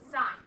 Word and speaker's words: sin: How we often abbreviate sine, it looks like sin, but we still pronounce it sine.